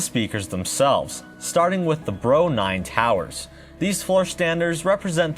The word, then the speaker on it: BR09: a quick side note the models of the tower and bookshelf speakers can actually be pronounced as bro 9 and bro 3 which is how i'll